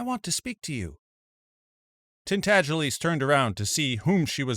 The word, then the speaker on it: Tintagelies: The name is pronounced Tintagelies, but as most people would not take the trouble to pronounce it correctly, they called him Miggs for short.